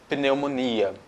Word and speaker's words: pneumonia: escrevo igual em português só que eu não pronuncio p eu digo não mônia omonia eu não falo pneumonia memória então p com um smn depois no começo das palavras não tem som o nosso top